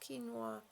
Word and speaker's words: quinoa: back but yeah that's how it's pronounced it's pronounced quinoa no it can have a very bitter taste